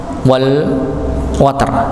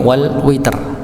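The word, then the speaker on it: والوتر: Ada sebagian riwayat lain yang dia membacanya bukan wal water tapi wal witr, pakai kasrah.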